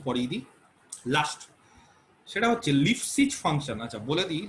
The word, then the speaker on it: Lipschitz: আচ্ছা বলে দিই, লিপসিজ মানানটা ভালো করে করতে হবে, লিপস্টিক না, কিন্তু আবার মেয়েরা আবার নিজেদের ইচ্ছে মতো করে দিবে না। লিপসিজ ম্যাথমেটিশিয়ানের নাম, ছোট লাগানোর জিনিস না, ঠিক আছে? লিপসিজ ফাংশন, তো উচ্চারণ ঠিক করতে হবে, ম্যাথমেটিশিয়ানের নাম, তাকে সম্মান দিতে হবে, সেখানে এল বড় হাতে, LIPS লিপস CHITZ, ঠিক আছে?